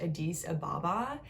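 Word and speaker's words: Addis Ababa: the capital of ethiopia which i believe is pronounced adis ababa and unlike trang she had a very privileged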